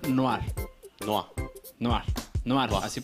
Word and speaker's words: Noire: Dice Samus que se pronuncia Noir.